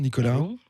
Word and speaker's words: Nicolas: nicolas bonjour nicolau sans s nicolas oui on sait pas on sait pas pourquoi parler bien dans le micro origines italiennes prononcent pas il supprime simplement d'accord vous êtes le